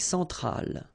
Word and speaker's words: centrale: L'Amérique centrale. Same thing here. Centrale, remember, E-N, nasal, so it goes in your nose, en.